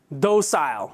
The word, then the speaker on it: docile: they used the word "docile." The British, I think, pronounced it "docile," the American way of saying it, "docile."